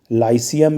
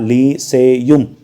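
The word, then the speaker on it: Lyceum: तो इसको हम कहते हैं लाइसियम या द लीसेयुम। तो ये प्रोनाउंसिएशन में डिफरेंस हो सकता है, या हर किताब में थोड़ा सा अलग इस तरह से लिखा रहता है।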